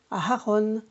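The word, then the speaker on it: אהרן: Après Moshe, vous avez Aharon. C'est le frère de Moshe, Aharon. Donc là, on prononce bien le He, effectivement. Il se trouve au milieu du mot.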